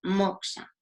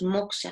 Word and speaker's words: moksha: Esa liberación en los Yoga Sutras se conoce como moksha. No os he anotado la palabra, se escribe M-O-K-S-A.